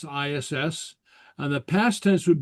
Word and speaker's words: is: so uh uh so we use the verb is and pronounce ass and the past tense would be bu pronounced boo.